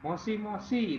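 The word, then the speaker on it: もしもし: moshi-moshi dua kali ya jadi tidak cuman mosi tapi moshi-moshi itu satu arti halo dalam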